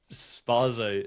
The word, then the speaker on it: Spaze: Spaze.